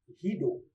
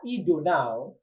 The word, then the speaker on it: Guido: It was created by somebody, Guido van Rossum.